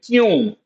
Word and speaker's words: क्यों: We pronounce like this kyun, but we write that this is the right spelling. So this is one of those other words which we write. The writing and the pronunciation are different.